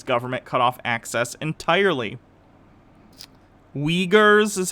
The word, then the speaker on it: Uyghurs: then the chinese government cut off access entirely uyghurs is how it's pronounced sorry um you her is in the